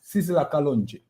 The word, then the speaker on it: Sizzla Kalonji: Sizzla Kalonji.